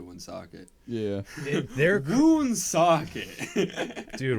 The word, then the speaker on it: Woonsocket: oh my god um wound sock it's crazy um the whole like Rhode Island scene you say it like someone who's never been to Woonsocket yeah their goon's socket